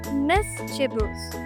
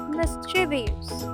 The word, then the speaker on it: mischievous: It's pronounced mischievous, not mischievous.